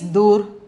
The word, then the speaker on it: दूर: pronunciation is dur, then the meaning is far or at a distance.